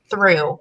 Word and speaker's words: through: Through. We know that you don't pronounce the GH, but our second grade friends.